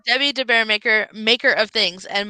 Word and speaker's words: DeBaeremaeker: of the it's debbie de bearmaker maker of things and my last name is spelled with a